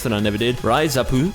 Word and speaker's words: RIZAP: that I never did, Raizapu, or as it's spelt in English, Rizap, the baseball management from